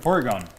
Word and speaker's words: Porygon: Yeah, Porygon. Porygon. I said it right the first time and then corrected it.